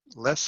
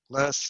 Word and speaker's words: loess: There's like less and loess and less. So there's so different people use different pronunciations, I imagine, but I'm calling it loess. It makes it a little easier to distinguish than less, even though less might be more correct.